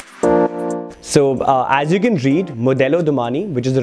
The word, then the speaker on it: Modello Domani: So as you can read, Modello Domani, which is the right pronunciation, is actually an Italian name, which basically breaks down into fashion, which is Modello, and Domani means tomorrow.